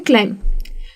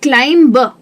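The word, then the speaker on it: climb: India में हम लोगों की गलती ये है प्रोनाउंसिएशन में कि अगर मैं आपको वर्ड दे देती हूँ क्लाइम, तो ज़्यादातर लोग उसे कहते हैं क्लाइम ब। जो ब है ना वो एक्चुअल में सुनाई नहीं देना चाहिए, तो इसे कहना चाहिए क्लाइम, क्रम, कोम, टूम।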